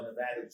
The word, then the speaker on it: Nevada: I'm always told by Nevadans that it's pronounced Nevada, not Nevada, not Nevada.